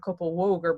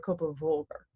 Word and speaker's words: Kópavogur: And V, believe it or not, is actually a V sound for us English speakers. You don't make a W sound. So the largest town just outside of Reykjavik is Kópavogur, not Kópavogur, but Kópavogur. See, I'm pronouncing my G's.